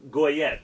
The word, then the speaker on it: Goyette: I didn't see a lot of guys that jumped out at me, but the Andrew Goyette, am I saying that right? His last name's pronounced Yacht. Yacht.